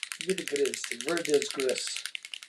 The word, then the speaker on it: verdigris: Verdigris. That's how I That's how I say it. Verigris. That's No, seriously, that's how I say it to spell it. I'll say in my in my mind and be like Vertigris. And then every other time I just say verdigree.